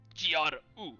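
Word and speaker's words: Gro: it's not G-R-U, it's G-R-O. But you spell it, you say it Gru.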